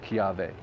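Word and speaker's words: kiawe: idiosyncrasies like that but a w basically is pronounced with a v so like uh kiave would right that's with the w but it's kiave anyway just a couple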